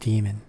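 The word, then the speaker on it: daemon: Actually, whenever it's spelled that way, it's just pronounced demon.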